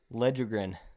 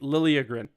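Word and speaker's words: Liljegren: uh so yeah sometimes why yeah I don't remember here's a tough one Timothy ledgergren pretty close it's Timothy Lillian Toronto Maple Leafs defenseman uh we're at our final four you're currently at 3.5 out of 17.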